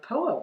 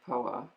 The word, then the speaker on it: Phowa: Well, it's spelled PHOWA. Yeah. So because people don't even know how it's spelled, PHOWA. The Tibetan Buddhist tradition of POA, transference of consciousness at the moment of death.